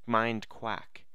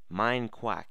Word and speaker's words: MineQuack: we're telling me that I pronounced it mind crack mind quack mine quack get that through your dang head welcome guys another episode